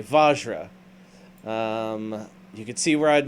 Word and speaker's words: vajra: to the last one Joe how do you say this so I don't like butcher it really terribly vajra okay vajra you can see where